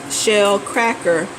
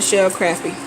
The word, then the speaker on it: shell cracker: I was mispronouncing one of the names of the fish. It is a shell cracker, not a shell crappie.